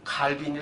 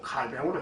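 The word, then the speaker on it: Calvin: 제네바에서 중생을 하신 분입니다 하니까 칼빈이 발음을 해서 안 되고 칼뱅을 해 줘야지요 기독교 존속의 결정적인 구심점이다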